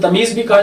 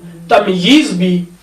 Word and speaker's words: تمییز: ساتویں قسم تمیز ہے۔ اس کو تلفظ کے اعتبار سے تمیز بھی کہا جا سکتا ہے، تمییز بھی، جیسے کہ مصنف نے